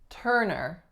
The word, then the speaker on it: Turner: now it's spelt turn2us are the vowels in this word the same or different Turner they are the same so that's the trick